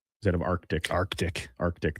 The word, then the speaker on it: Arctic: Mine is, people say Arctic instead of Arctic. Arctic. There's a C in there. Arctic.